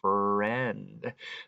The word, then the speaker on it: friend: For example, down here in this word friend, that's a short E sound, friend.